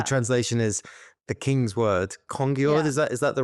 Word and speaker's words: Kongeord: Kongeord, is that the right pronunciation? Kongeord, yeah.